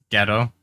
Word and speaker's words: Godot: of his name i i thought it was spelled like g-o-d-o-t which ghetto is that how it's pronounced yeah coffee man